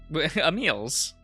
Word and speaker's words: Emil: The first face I see upon opening the door is, Emil's. That's how you pronounce that name.